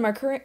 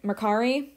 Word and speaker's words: Mercari: yesterday I was on Mercury Macari I'm finally saying it right folks and actually I